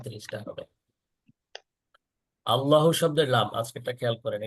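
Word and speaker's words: الله: ল বলতে হবে। ল, LAW, English উচ্চারণ যে আছে ল আইন, সেরকম ল হবে ল।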